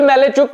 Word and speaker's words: Malajczuk: उस खिलाड़ी का नाम है विल मैलेचुक। अब विल मैलेचुक अब आप सोचिए विल मेलेचुक ये बड़ा कठिन प्रोनंसिएशन है।